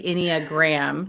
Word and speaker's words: Enneagram: Okay, so Tammy, so the Enneagram, so let's go over what the Enneagram, did I say it right? You said it right the second time.